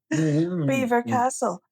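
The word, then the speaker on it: Belvoir Castle: Beaver Castle is spelled Belvoir.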